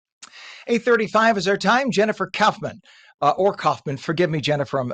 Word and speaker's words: Kaufman: It is actually Kaufman, like sauerkraut.